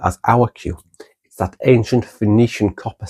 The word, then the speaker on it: qi: And then, there are the Chinese loan words in um Mandarin Pinyin, the letter Q represents a ch-type sound, like qi, pronounced qi, and qigong.